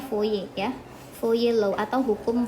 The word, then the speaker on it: Fourier: Ini bacanya Fourier ya, Fourier Law atau hukum Fourier.